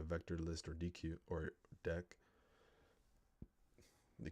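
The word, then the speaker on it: deque: and Q containers so DQ a double-ended Q pronounced or I see deck is a double-ended Q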